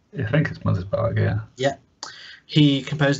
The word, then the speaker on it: Mothersbaugh: fact Mark Mothersbaugh Mothersbaugh how do you say mothersbaugh mother's bar oh yeah yeah he